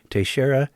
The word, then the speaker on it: Teixeira: Note, Teixeira is the English pronunciation of Pedro's last name and not the Portuguese pronunciation, which is slightly, I'm sad to say, beyond the abilities of my tongue.